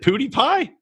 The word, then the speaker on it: PewDiePie: Is it PewDiePie? Yeah, that's right.